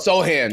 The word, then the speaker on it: Sochan: I don't know how to pronounce his last name. Messing it up. Sohan.